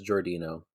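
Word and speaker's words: Giordino: shortly after things begin I always thought it was jordino oh okay the the audio book says jordino okay jordino let's stick with that I believe that would be the Italian way of pronouncing that because I'm on the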